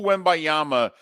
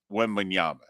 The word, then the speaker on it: Wembanyama: We all knew Wembayama. We knew Wemby. We maybe mispronounced it a year ago this time, but we had all heard something about Wembanyama.